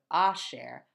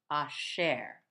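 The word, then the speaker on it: אֲשֶׁר: going to say ah the little two dots means the emphasis is going to be over on the next syllable not here so ah share I share instead of a share I share moving on we have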